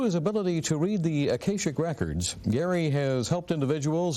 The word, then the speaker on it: Akashic: Could you tell me, first of all, what are Akashic, and am I pronouncing that correctly? Right, Akashic Records.